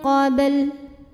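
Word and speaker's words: قبل: Huruf ba dihukumi dengan qalqalah sughra. Karena huruf ba ini sukunnya asli dan ada di tengah bacaan kita. Cara membacanya dipantulkan dengan pantulan yang kecil. Qabl dan huruf lam ini harus tetap terbaca.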